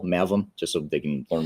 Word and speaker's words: Mavim: So despite the proper pronunciation you had, can you tell us how to spell Mavim, just so they can learn more about you?